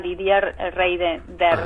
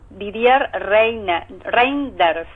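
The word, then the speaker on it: Didier Reynders: belga que se llama didier reyers o algo así e Perdón didier reinders vamos a tratar de pronunciarlo bien eh y lo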